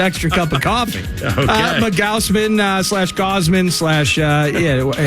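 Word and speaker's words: Gausman: cup of cof mowman Gosman SL uh yeah however you say it and Lopez it's Gosman I think it is too I watched highlights last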